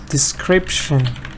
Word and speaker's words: description: Description. But Parisa, it is 3 syllables, not 4.